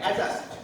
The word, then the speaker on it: adjust: D is not pronounced here. Here again, adjust, not adjust. Adjust. Adjourn, not adjourn. Adjacent, not adjacent. These words are pronounced with the ja sound.